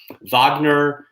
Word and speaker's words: Wagner: in which vogner and by the way it's spelled like Wagner whe n ER vogner was more than just